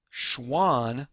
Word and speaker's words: Schwann: between these two guys schwann sounds like the word swan and remember swans are animals show schwann animals they're